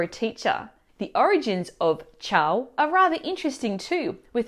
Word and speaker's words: ciao: happy to see you, they will actually drag out the pronunciation of the A in the word ciao, which is them basically saying, hi, I'm so happy or I'm amazed to meet you. And it sounds like ciao.